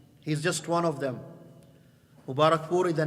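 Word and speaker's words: Mubarakpuri: Shaykh ar-Rahmah Mubarak Furi, or better Mubarak Puri. That's how it's said in Indian. In Arabic, because we don't have the P in Arabic, we say Mubarak Furi. He is Mubarak Puri, and that's where he comes from.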